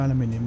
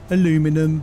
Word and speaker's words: aluminium: So, we'll grab some bassalt, grab some more aluminium, and then we'll head back. Find some more aluminum. Okay. Okay. For the American views, aluminum.